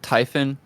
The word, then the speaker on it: Typhon: Is it Typhon? Yeah, exactly. It's Typhon.